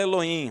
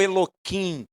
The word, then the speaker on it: Elohim: Amanhã ficarei no alto da colina, segurando em minha mão a vara de Elohim. Você pode me perguntar, por que você fala Elohim, Rafael?